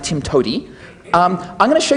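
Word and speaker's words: TIMTOWTDI: the PE motto is there's more than one way to do it which is pronounced Tim to um I'm going to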